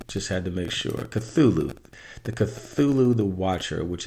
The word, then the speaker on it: Cthulhu: Let me see how to pronounce this guy again. Cthulhu. Just had to make sure. Cthulhu.